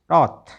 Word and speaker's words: wrath: वैप नहीं बोलें क्योंकि यहाँ पर तो W साइलेंट है। तो इसमें क्या रह गया, अब RAP तो रहा रैप। WRATH रॉथ, WRECK rack, WRENK रैन, ठीक है।